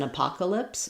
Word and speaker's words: apocalypse: And then it's an apocalypse. Same thing with it's an it's an apocalypse. I'm just stressing on p here.